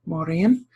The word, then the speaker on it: Mórrígan: and phantom Queen and Mauryan is modern Irish Mauryan and my pronunciation that you're gonna get through this video and my other videos is modern Irish pronunciation so I don't speak